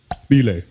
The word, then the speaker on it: Bele: The guy goes, "My name is pronounced Ble." He had a click in his name. The guy's name was Bele.